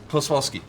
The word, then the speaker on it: Klossowski: How do you pronounce that one part of your name? Klosowski? Kloswalski. Kloswalski? Yeah, Kloswalski. That's not what that looks like. Klossowski. That says. Klosowski Is what that I think says. I always pronounced it Klowoski. Kloswalski is it's just easier sometimes when you're going fast. Klosowski? Well, why are the S's before the W? Because it's Kloswalski.